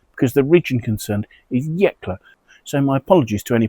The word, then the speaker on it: Yecla: correct myself from my previous video where I pronounced the region as Yelka. I'd managed to transpose two letters there and I should know better because the region concerned is Yeklla.